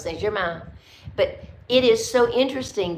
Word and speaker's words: Saint-Germain: No, it's Saint-Germain.